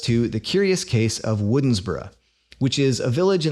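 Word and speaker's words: Woodnesborough: in 1800 wrote that in modern times this name has sometimes been pronounced winsbra but if you happen to live there or if you bother to search for a video of someone local actually saying this word in the 21st century you'll discover that the pronunciation often seems much closer to the spelling woodensborough interestingly spelling doesn't typically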